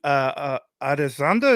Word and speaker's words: Adesanya: Alex Pereira defeating Adesanya. Is that how you say his name? Adesanya.